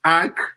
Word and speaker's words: AEK: Ajax will travel to Greece to play AEK, not Athens. AEK.